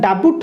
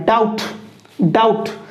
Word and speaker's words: doubt: रे आको डेट बोली पढ़िया जेहेतु बी को साइलेंट रखिबा सिमति एठी लक्ष्य करो DOUBT आको जदि बी को मिसे पढ़िया डाबुट होबो डाबुट तो आको हमें बी को पढ़िबा ना डाउट सिमति एठी लक्ष्य करो SUBTLE सबटल नुह आको